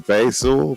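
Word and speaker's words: Bhayshul: even I I don't even know how to pronounce his first name is BAS I want to say is basul b h a y s h u l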